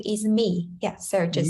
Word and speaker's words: Mie: Yeah, so basically my name is Mie. Yeah, so just Mie.